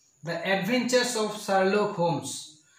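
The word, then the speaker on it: Holmes: the adventures of sharlok homes h-o-l-m-e-s homes l is the silent letter here so the adventures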